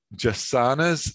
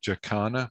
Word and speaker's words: jacana: it's a portuguese well it comes to english from portuguese but it's an indigenous word uh they're just the